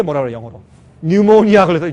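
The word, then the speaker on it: pneumonia: 뉴모니아 걸렸을 때 뉴모니아. 폐렴, 그렇죠? 그러니까 이걸 사실 그대로 읽으면 푸뉴모니아죠. 근데 이 피는 발음 안 하기 때문에 뉴모니아.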